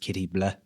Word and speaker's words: Katie Bleu: We didn't want it like kitty bl or bl u e. We wanted it like blleh. So we spelled it the French way. And um it's pronounced kitty blah.